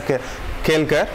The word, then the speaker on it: Kalelkar: Okay, it's Kelkar pronunciation, there are few fellows who will pronounce it as Kelkar, but the spelling is Kalelkar, K-L-E-L, K-A-L-E-L, Kalelkar.